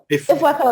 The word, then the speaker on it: Ifweko: Ifweko, like an echo.